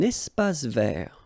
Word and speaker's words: espace vert: Un espace vert. First thing, you've got this little link between the two. Un espace vert. Final not pronounced, and then final T not pronounced.